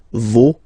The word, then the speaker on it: vos: pronounce the final S, vos, you don't pronounce it, leur. Okay, so if we say that one more time, it's me, te, se, and then nos, vos, leur.